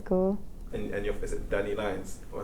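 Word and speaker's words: DaniLeigh: And is it DanilLeigh? Oh, I said it right? DanilLeigh, yeah.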